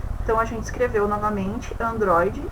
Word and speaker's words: Android: Então, a gente escreveu novamente Android, o mais forte é o DRO, que você vai sublinhar ou circular, e você vai indicar, era paroxítona, proparoxítona ou oxítona.